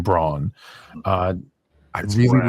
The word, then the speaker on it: Braun: playing that role in Christian Brown even though they pronounce his name Braun uh I really like